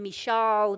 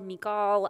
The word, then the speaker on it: Michal: about a princess named michael some people say her name michal mikal i don't know i'm not hebrew i always heard her name as michael so i'm gonna just say michael okay uh let's see